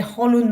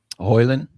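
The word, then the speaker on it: Højlund: Because I read the Holland might not play. Hoyland? Yeah, sorry, my pronunciation of the surname of Rasmus is always Really?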